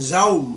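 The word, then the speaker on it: dầu: Because last month I was in the south, where they pronounced the sans serif D as a G, but I was now in the north, and there you pronounce the D as a Z, so that boy didn't understand my jou. I should have said, "Toi kan zou mooi."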